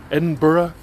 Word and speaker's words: Edinburgh: it's Melbourne doesn't everybody know it's Melbourne and Edinburgh come on people educate yourself get all smart